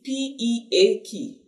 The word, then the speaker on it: peak: p i c k but the long e you you see p e a k k Peak that's the peak of